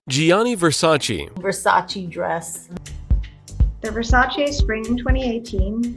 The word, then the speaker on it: Versace: 片中听到的发音 Gianni Versace.